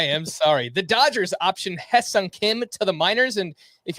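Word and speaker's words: Hyeseong Kim: so far I am sorry the Dodgers option Hung Kim to the miners and if you're wondering why I'm saying it like that it's spelled High Sun Kim I listened to a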